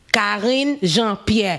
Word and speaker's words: Jean-Pierre: a black haitian woman which was calling jean-pierre jean-pierre if you guys want to know the pronunciation i know a lot of people are